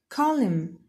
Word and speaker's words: column: Column. The silent letter here is N.